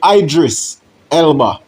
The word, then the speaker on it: Idris Elba: You see from the video um with a clipping of Idris Elba or some would pronounce him as Idris Elba. You know what I mean? But it's really Idris Elba.